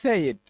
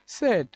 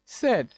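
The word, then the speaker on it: said: করে নেব এরপর রয়েছে এটাকে আমরা বলি হচ্ছে সেইড এটাকে আমরা বলে থাকি সেইড বা এটার হচ্ছে এপ্রোপ্রিয়েট উচ্চারণ হচ্ছে সেড সেড এটা কিন্তু আমরা সেইড বলে থাকি অর্থাৎ এখানে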